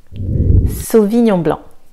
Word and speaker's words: Sauvignon blanc: Sauvignon blanc, Sauvignon blanc. Le C est silencieux.